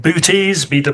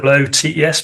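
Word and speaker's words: Boötes: to pronounce called I it's called boties o Tes but there some dots above one of the O's and it's constellation of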